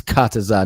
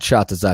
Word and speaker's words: Kataza: Kataza. Um Kachazar. Tataza. Let me see. It's Kataza, not Chhatza.